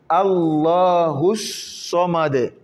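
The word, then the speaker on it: ٱللَّهُ ٱلصَّمَدُ: On saute carrément le A et le La, on plonge de Hu en So.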